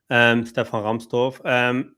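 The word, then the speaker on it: Stefan Rahmstorf: Let me pronounce it in German. Stefan Ramstorff.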